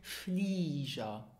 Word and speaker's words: Flieger: Well, it is pronounced Flieger. Flieger. And why? Well, whenever you have the letter G in a word and the letter G comes after the vowels I and E or the consonant R, then it is pronounced J. J.